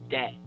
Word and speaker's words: debt: this me quick so this is be a silent it's dead that that the B is silent okay that problem in